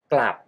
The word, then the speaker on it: กลับ: Go Back or return consonant cluster ก ล and pronounce with the low Tone กลับ กลับ ขา กลับ ขา กลับ